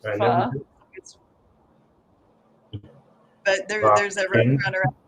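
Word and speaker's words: phở: I think they actually pronounce it pho.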